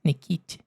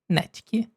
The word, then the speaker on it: Natkyn: And when I did the test runs, I said sometimes Nikit instead of Natkyn. Okay? So, I will say sorry if I say the name wrong and then when you hear the pronunciation, please remember that is Natkyn and Vexite.